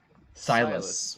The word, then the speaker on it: Silas: His name is Silent? Silas.